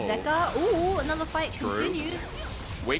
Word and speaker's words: Zeka: Zeka was in the LPL, and I remember actually calling him Zika. I didn't realize that his name was actually pronounced Zeka, so I feel like now I have the